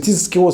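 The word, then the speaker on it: תִּזְכְּרוּ: Parce que on faut bien prononcer le zain, pas que ce soit tizkero, que ce soit un sin. Donc c'est tizkero, c'est le son Z, pas le son S.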